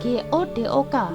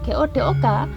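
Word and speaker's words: godhog: Padahal sekali lagi kalau kalau dilihat dari penulisan versi aksara Jawanya itu sebenarnya pakai huruf do ya, DH. G-O-D-H-O-G. Bukan G-O-D-O-K. Karena kalau G-O-D-O-K bacanya godok. Enggak, bacanya itu godok.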